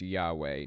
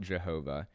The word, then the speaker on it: Yahweh: The name is pronounced Yahweh, not Jehovah, but they'll claim that Jehovah is the modern English translation of Yahweh.